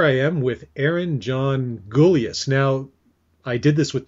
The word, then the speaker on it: Gulyas: So I'm just going to make sure that it's, is it Gulyas? Gulyas, yeah.